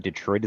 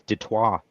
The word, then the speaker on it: Detroit: It's not Detroit, it's Detroit.